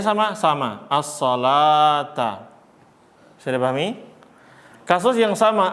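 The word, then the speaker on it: الصلاة: As-shalah itu lamnya fathah biasa, lalu di wawu ini kasih apa? Alif kecil, bukan fathah berdiri dia, tapi alif kecil. Bacanya as-sholata.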